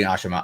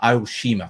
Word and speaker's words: Aoshima: Oh, and I say Ashima, Aoshima. Sorry, gotta say it correctly.